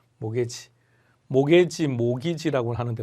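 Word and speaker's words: mortgage: 이때 T자 묵음입니다. 모터 게이지 하면 안 돼요. 모게지. 모게지, 모기지라고 하는데 모가지라고 하면 안 돼요.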